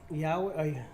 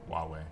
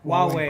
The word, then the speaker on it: Huawei: Yahweh? Yeah, how do you say that company? Huawei. Huawei.